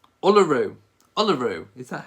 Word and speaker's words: Uluru: Oh, apparently the pronunciation, it's Uluru. Uluru.